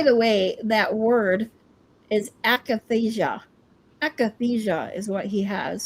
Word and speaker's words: akathisia: By the way, that word is akathisia.